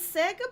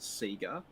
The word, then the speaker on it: Sega: a question for richie is sega pronounced say go or seagull in australia right so if you in the 90s it was absolutely pronounced sega they said sega in their ads they're like they had their own tv show that said sega everyone said sega and um they now say sega but if you're like